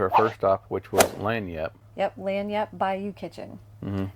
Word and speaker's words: Lagniappe: Yeah, Lanyap is how it's pronounced. Lagniappe.